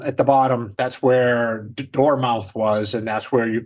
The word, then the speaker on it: Dartmouth: correct I'm sure the natives pronounce it another way dmouth Dartmouth it's called it's photom but it's still door mouth yeah yeah don't ask